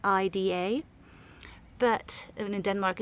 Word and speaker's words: Ida: It's spelled I-D-A. But in Denmark, it's actually a Danish name and it's pronounced as Ida.